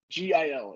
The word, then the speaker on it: Gil: now it is and then it just says g-i-l it does not put a pronunciation for his last name all right it's